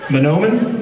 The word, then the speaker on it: Mahnomen: meet a few people, and you guys all pronounce the name of this place differently. Is it Mahnomen?